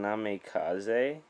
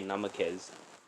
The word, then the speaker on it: Namikaze: And instead of saying Namikaze, he'd say it he'd say it like Anime King, where he would just say Namakez.